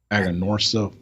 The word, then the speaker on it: Aganorsa: Aganorsa leaf. It's out of their farms. Jeez, am I saying that wrong? Aganorsa Farms. There you go. There you go. There you go. I've been mispronouncing them since 2017.